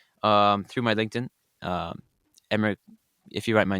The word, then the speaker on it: Emre: You can uh message me through emir or um through my LinkedIn um emmer if you write my name emer should pop up and we will be more than happy to connect with you.